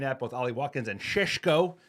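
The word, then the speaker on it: Šeško: Resiland today is not that guy, but the players they're looking at, both Ali Watkins and Shesho, apparently that's how you say his name.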